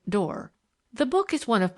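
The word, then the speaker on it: Doré: lovely pictures in it made by a man named door she pronounced it door the book is one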